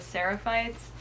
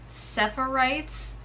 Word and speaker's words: Seraphites: chapter I guess is called Sara fights which I was pronouncing it separate rights I'm an idiot I